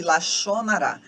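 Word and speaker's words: lashon hara: tradição Judaica chamado de lachonará se escreve laxon Rara mas a pronúncia ela xonará bom é um pecado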